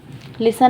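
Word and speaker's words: listen: जाते हैं जैसे के लिसन लिसन में मैंने टी नहीं पढ़ा ठीक है लिसन और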